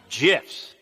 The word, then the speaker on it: GIF: via hilariously violent gifts from developer dead toast pronounced jiff pardon me yeah you say